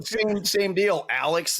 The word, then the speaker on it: Alex: Alex, the way it's spelled, but now I say it Alec, you know?